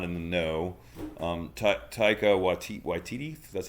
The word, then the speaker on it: Taika Waititi: And for those of you guys that are not in the know, Taika Waititi, that's how you say it, of course.